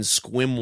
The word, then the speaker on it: Sequim: Wednesday, October the 12th, I'll be at Seven Cedars Casino in Sequim, Washington. Sequim. It's not even spelled like that.